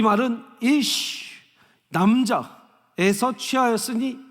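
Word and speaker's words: איש: 그 다음에 매산차처럼 생긴 게, 이 산 모양처럼 생긴 게 시인데 이 시는 소리가 시의 발음이 그냥 우리나라 시옷이라고 생각하시면 돼요. 자, 그래서 이시가 되는 겁니다. 이시.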